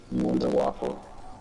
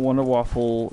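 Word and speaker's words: Wunderwaffe: Wonder it's the Wonder it's the Wonder WAFF not wonder waffle just wonder waffle that's what Rick say cuz that's how you say it in German or whatever um should I keep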